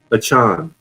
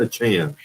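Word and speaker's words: Achane: Both Saquon and Deshaun, or how do you pronounce his name? Achan. Chan. It's Devon Achan.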